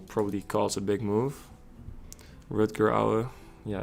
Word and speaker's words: Rutger: So my name in Dutch, it's pronounced Rutger. Rutger. It's hard to say in English. Rutger. You can say Rutger. That's fine. But in Dutch it's different. Rutger.